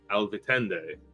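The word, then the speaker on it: Alvitinde: pleasure to meet you you may call me Al vitende oh that's a beautiful name can you spell it um a-l-v-i -t-i-n-d-e um some new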